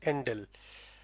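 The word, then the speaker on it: endl: it inserts a newline character so it is pronounced ndele and then see out another stream initialization operator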